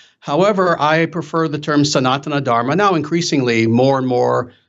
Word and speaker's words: Sanatana Dharma: um um sanatana dharma is that the correct pronunciation there close very close actually uh it's sanatana dharma dharma and and yeah the thing is it's